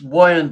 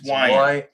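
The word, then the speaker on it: Weiand: It's Wyandt, by the way, for you guys who pronounce it Wyandt. It's not Wyandt. It's Wyandt. Wyandt.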